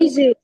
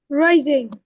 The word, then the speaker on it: raisin: While reading, you mispronounce a word. Wait, let me write it. Raising. Can you say that again? Rising.